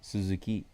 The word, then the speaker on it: Suzuki: For those of you who want to know how to pronounce it correctly in Japanese, it's Suzuki.